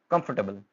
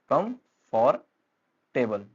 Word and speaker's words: comfortable: Next हमारे पास कंफर्टेबल, इट्स कंफर्टेबल, आरामदायक, जबकि स्पेलिंग से हम क्या पढ़ सकते हैं इसको, कम फॉर टेबल, वो प्रोनाउंसिएशन जो है वो गलत होगी।